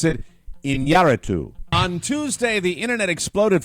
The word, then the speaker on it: Iñárritu: I'm going to pronounce it Iñárritu. On Tuesday, the internet exploded following a report that Oscar-winning director Alejandro González Iñárritu, I hope I got that pronunciation right.